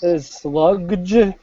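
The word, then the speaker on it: Slugdge: The one I've been listening to is Sludge.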